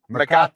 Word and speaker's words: Mecate: And as you mentioned before, it is Mecate, right? That is the correct pronunciation. Mecate.